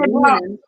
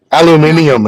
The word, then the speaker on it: aluminium: Tommy It's said, aluminum. I don't. Aluminium. Aluminium is actually the correct pronunciation, but Try to say anemone.